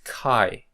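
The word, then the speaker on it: χ: as CH okay so uh here we should pronounce this as c k k co co Q Q okay so this is Kai the name the English name of this letter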